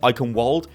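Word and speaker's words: Eichenwalde: be taking place inside icon VA or icon wal I believe as it's actually pronounced I'm sure Germans out there will correct me but I'm sure it's icon Wald ion ional ional but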